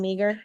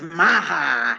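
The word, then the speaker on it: Meagher: Meager. No, it's it's spelled meager but it's Maha.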